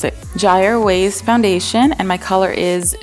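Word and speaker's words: Kjaer Weis: how to pronounce it gy ways foundation and my color is transparent I'm assuming the K is silent but please correct me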